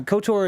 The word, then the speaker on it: KOTOR: see here uh yes kotor that pronunciation interesting choice good star wars game though too or good service game two yeah i i think so yeah kotor is as how i've always heard it i've heard it couture